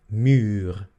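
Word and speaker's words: muur: La U larga es el sonido U. Entonces, por ejemplo, tenemos la palabra mur, o fur, ¿ok?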